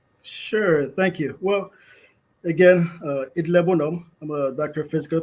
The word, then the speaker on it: Idler Bonhomme: The name is pronounced Idle Bonhomme.